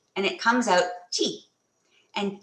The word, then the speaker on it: Kyi: halfway in between so you have to make your mouth wide like you're saying cheese but you say G and it comes out G and G means clear